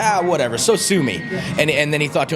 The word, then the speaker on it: Sosumi: And he was like, whatever, so sue me.